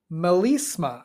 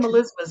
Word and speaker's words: melisma: Um, which genre typically uses mema? I hope I'm saying that right. A single syllable stretched over many notes. Is it country, rap, classical, or pop? Classical. Melisma.